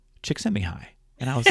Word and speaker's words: Csikszentmihalyi: a few years ago as his last name, Csikszentmihalyi. Csikszentmihalyi.